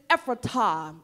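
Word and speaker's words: Ephrathah: naomi was from bethlehem and the way you pronounce this is ephrata okay that's the way you pronounce it that's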